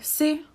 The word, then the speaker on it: jsi: We write them like this, but when we pronounce them, actually we omit the y at the beginning. So it's já jsem, ty jsi, vy jste, my jsme, oni jsou.